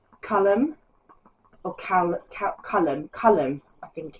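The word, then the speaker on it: Caelum: a project but I was reading it as Callum in my head but it's colum because it's c a e l u m so it's colum colum anyway yes they meet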